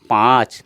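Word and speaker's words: পাঁচ: असमिया में इसको पाँच कहते हैं, पाँच इस तरह संख्या लिखेंगे पाँच, और उच्चारण होगा इसका पाँच, नाक से ही, चंद्र बिंदु है इसमें इसलिए इसको नाक से हम उच्चारण करेंगे पाँच।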